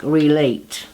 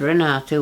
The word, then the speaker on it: Renata: speak English said that they would pronounce my name like Renate, Renate. But she said Renata, which was right, which was my correct pronunciation.